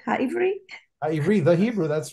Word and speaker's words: Ha'ivri: Ha'ivri?